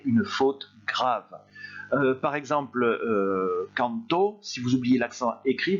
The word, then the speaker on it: canto: Ici, on va prononcer canto, en insistant sur le dernier O, et quand vous êtes au présent d'indicatif et que vous supprimez l'accent écrit, on dit canto, c'est-à-dire que vous insistez plutôt sur le A.